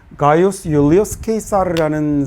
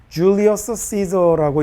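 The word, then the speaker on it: Gaius Iulius Caesar: 이 사람이 바로 누구냐면 가이우스 율리우스 케이사르라는 사람인데요. 우리가 보통 이제 영어로 읽을 때는 뭐라고 읽냐면 줄리어스 시저라고 이렇게 읽는 사람이죠.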